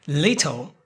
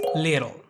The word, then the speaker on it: little: Little becomes little. And remember, we're talking about the T that means a vowel sound. And this is why, even if you see a T and an L, it still works like that because the sound is little, right?